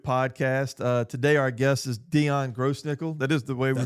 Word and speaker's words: Dion Grossnickle: Today, our guest is Dion Grossnickle. That is the way we pronounce it, right?